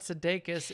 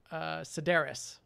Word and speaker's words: Sedaris: not what you said it's not Sudeikis it's a Sedaris Sedaris and that actually I